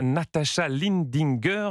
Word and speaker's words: Natascha Lindinger: Et c'est un téléfilm, ce qu'on appelle un unitaire, une fiction portée par la comédienne Natascha Lindinger. On prononce comme cela, sa mère est autrichienne.